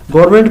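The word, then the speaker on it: government: गवर्नमेंट, गवर्नमेंट में N silent होता है लेकिन लिखा जाता है, सो GOVERN।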